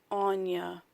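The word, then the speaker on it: Áine: So it says, pronounced Anya.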